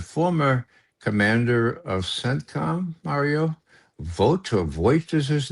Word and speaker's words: Votel: What's his Voigt, Voght is his name. I don't know how to pronounce it right. Okay. But he was head of CENTCOM just about 8-10 years ago. Joseph Votel, yeah? Yeah, Votel, right.